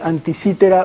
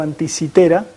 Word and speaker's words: Anticitera: De hecho, se pronuncia, se debería pronunciar antisitera, pero me me enteré tarde y ya muchísimas veces pronuncié antisítera, así que me va a costar corregirlo. Eh, probablemente diga antisítera, sepan ustedes que es antisitera.